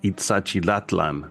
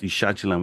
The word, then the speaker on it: Ixachilan: besides Ixachilan, I mean, that term has now over the years been expanded and been pronounced Itzachilatlan. Like, people have more syllables, the better. You know what I'm saying? Like, they complicated the term to make it sound more complex and more deep than it actually was.